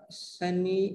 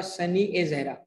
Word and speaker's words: सनी ए जहरा: कौन सा करेक्ट नाम है? सनी ए जहरा।